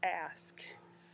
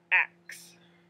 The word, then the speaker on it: ask: so anyway the ask the sk sound is ask it's not ax so that's a big